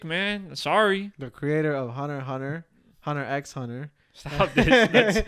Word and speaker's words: Hunter x Hunter: The creator of Hunter x Hunter. Stop this. You don't pronounce the X.